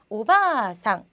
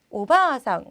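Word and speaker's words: おばあさん: 자, 그래서 발음이 만약에 이 오바상 같은 경우가 짧게 발음이 돼서 오바상 이렇게 되면요. 아주머니 또는 고모, 이모라는 다른 뜻으로 바뀌기 때문에요. 이 아까지 길게 오바상, 오가상 길게 발음을 꼭 해주셔야 돼요.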